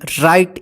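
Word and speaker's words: right: आई जी एच टी राइट इसको रिट मत पढ़िए देखिए य पे जी एच है ना ये साइलेंट रह गया इसका उच्चारण नहीं होता है राइट राइट का मतलब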